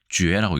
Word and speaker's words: 角: 그래서 이것은 자오라고 안 읽고 쥐에라고 읽습니다. 쥐에서.